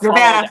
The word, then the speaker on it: Nevada: It's Nevada.